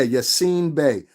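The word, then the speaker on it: Yasiin Bey: up him look up usain bay i think it's spelled y-a-s you seem or you've seen bae i think it's y-a-s-i-m yeah yes seen bae y-a-s-i-i-n-b-e-y that's right usain bay look up his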